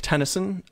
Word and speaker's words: Tenneson: that I've picked uh last name is like tenis and the poet except it's spelled with an e instead of a y anyway um the EP